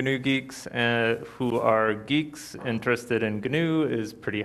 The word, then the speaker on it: Guix: crush on good new geeks I'll start off with it's kind of awkward calling it good new geeks especially when you're talking about crushes but it for the longest time pronounced it goo --ax it's a bit awkward